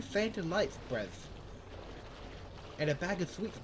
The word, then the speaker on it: Brev: Wait, it's the way you pronounce Brev, it goes Brev, B-R-E-V.